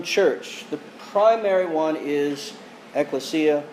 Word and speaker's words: ekklesia: the primary one is ekklesia or ecclesia as some people prefer to pronounce it which means assembly